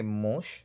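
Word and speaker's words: муж: Vemos que mush termina con Z, pero pronunciamos como Sh, como en Nash.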